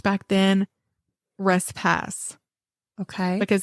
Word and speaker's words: Respus: Because they say that there were other people back then, and that's how or other people with that same last name that lived in that area, and they pronounced their name Respus.